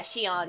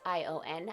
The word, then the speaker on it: Sion: Yeah, Shion, I think it is. It's Sion, I think it's pronounced.